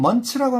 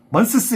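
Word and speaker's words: months: 요거 발음은 먼스 발음. 요거는 먼츠라고 하면 돼. 먼츠. 알겠지? 먼스스 이러지 마.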